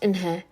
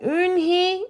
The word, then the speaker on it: Eunhae: Eunhae means grace." "Grace? Grace Eunhae?" shouted Ralph. Everyone tried to say it. "Eunhae, Eunhee, Eunha."